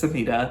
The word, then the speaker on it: Samita: the family members samita I'm sorry for saying her name wrong I said Samira before it's samita all of the acting